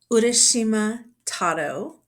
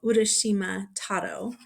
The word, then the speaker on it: Urashima Taro: Today I'm going to read from the book Urashima Taro and Other Japanese Children's Stories. So, this is a book of fairy tales from Japan. Um, I'm going to be reading the title story, so Urashima Taro.